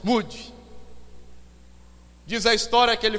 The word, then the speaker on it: Moody: Não é mudo não, viu, irmãos? Moody.